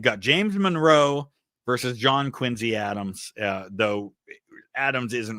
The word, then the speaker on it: Quincy: You can vote for Monroe or John Quinsey Adams. And they do pronounce it with a Z sound. Uh, Quinzy is how they pronounce it up there.